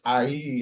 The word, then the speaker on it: ayie: Well, the funeral rites, which I had, is IE, and that's spelled AYIE, and that's really it's a it's